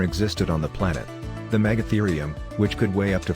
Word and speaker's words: megatherium: the hairy creature number four megatherium the megatherium pronounced megatherium also known as a giant ground sloth used